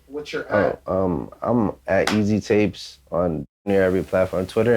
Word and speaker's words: EASYTAPEZ: EAST, not East, Easy. EASYTAPEZ. Not EAZY, EASY, like Easy Tapes with a at the end though.